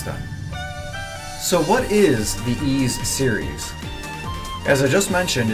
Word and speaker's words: Ys: Simply put, by saying it as Ys, like in please. Generally, it's not proper to pronounce it wise, as in why do I care?